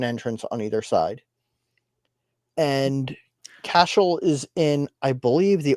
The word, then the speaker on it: Cashel: So this is one of my favorites to talk about because it's pronounced Cashel.